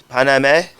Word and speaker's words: Paname: How do you pronounce that? Paname? It's Paname.